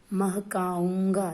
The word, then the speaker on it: महकाऊंगा: महकाऊंगा, देखिए यहाँ पे चंद्र बिंदु है। ऊंगा, इसका उच्चारण नाक से होता है।